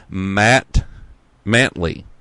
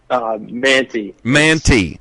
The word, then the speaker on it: Mantey: But I've got Gus and Max Mantley. How do you say that? You said Stella always mispronounces it. So Manti.